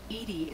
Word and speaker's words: EDI: Why are you named Edie? Edie is the phonetic pronunciation of E-D-I.